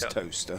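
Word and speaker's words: Towcester: R O C E S T R as in toaster. That's how you like toaster the place, isn't it? T O W C E S T R. That is toaster.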